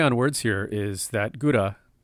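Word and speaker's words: 蔵: But the play on words here is that gura, it's actually pronounced kura on its own, and this kura phonetically refers to Kuranosuke, the hero of the story.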